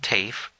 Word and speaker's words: Taaffe: This is Ellen Taaffe. A voice said, rhyming the name with waif.